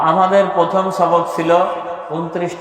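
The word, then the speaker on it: ث: বা উপরে যদি তিনটা নুক্তা থাকে তার নাম ছা সবাই বলেন ছা সবাই বলেন ছা আবার বলেন মাশাল্লাহ ছায়ের উচ্চারণ কেমন হবে একজন বলতে পারবেন আপনি বলেন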